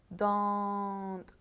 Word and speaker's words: don't: Again, the pronunciation of do not is don't, as if it had a U. Okay? As if it were D-O-U-N-T.